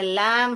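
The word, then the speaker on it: lamb: इसको ब प्रोनाउंस नहीं करते। लम ही बोलते का बेटा लम भ नहीं बोलने का ओके लम एस कूल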